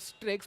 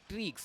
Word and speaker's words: Strix: It's called Strix, but it's pronounced Streaks.